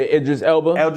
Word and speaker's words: Idris Elba: Oh, yeah, Idris Elba.